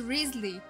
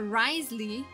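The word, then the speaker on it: Wriothesley: decided to do that rly is a is a British name I believe it's of British origin and it's pronounced rley uh but um GHIN went hoers went for Risley and oh my God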